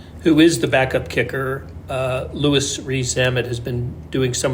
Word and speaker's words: Louis: It's not Louis. It's Louis. Rees-Zammit is one of the interesting characters.